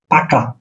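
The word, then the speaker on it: пока: বিদায়, বিদায়, রাশিয়ান হলো পাকা, পাকা। এন শুরুতে এর মতন থাকলে এটা উচ্চারণ হবে পি এর মতন, শুরুতে এর উচ্চারণ হবে পি এর মতন।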